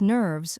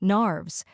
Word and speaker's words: nerves: ever we should be troubled with nerves or narves, as she pronounced the name of that affliction.